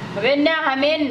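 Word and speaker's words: 왜냐하면: वेन्या हामेन भनेको चाहिँ किन भने, 14 हेर्नुहोस्, पुरनिक्का त्यस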